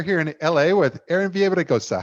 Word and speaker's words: Villaraigosa: election and we're here in la with aaron viejosa how are you erin i'm well matt thank